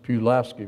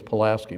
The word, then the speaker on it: Pulaski: And you pronounce Pulaski, Virginia. Yeah. You know, you look at it and think it's Pulaski, but not in Virginia, it's not.